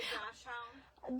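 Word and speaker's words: Dachshund: The dash hound. The dash hound. That's how Alyssa pronounces Dachshun.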